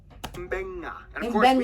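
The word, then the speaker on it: Beqa: alphabet, C makes the th sound, D makes the nd sound, B makes the mb sound.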